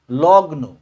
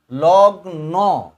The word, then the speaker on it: লগ্ন: লগ্ন। তাহলে পরে কিন্তু একটা অ আছে, এখানে কিন্তু একটা অ আছে।